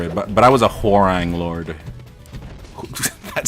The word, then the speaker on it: Hwoarang: a term for it, but I was a Hwoarang Lord. That sounds so ugly. Hwoarang Lord. Is that how you pronounce that guy's name? The character? Hwoarang. Yeah, that's how you pronounce it.